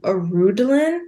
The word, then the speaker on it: Arundolyn: in a way is more of Arundhelen. Is how I remember how to say his name.